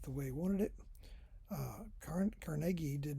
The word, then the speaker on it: Carnegie: Okay, back to Carnegie. His name's supposed to be pronounced Carnegie.